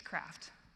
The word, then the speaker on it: KRaft: It's KRaft. Let's do it. It's better, close, you're almost there. It's KRaft, darling. Oh my gosh. Okay, KRaft. Let's do it. No, it's KRaft. KRaft like it rhymes with graph.